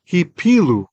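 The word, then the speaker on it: הִפִּילוּ: I'm going to exaggerate the pronunciation for those of you who are not looking. Hipilu. So there's two pays there. There's a strong dagesh. Why? Because this is from the verbal root nafal.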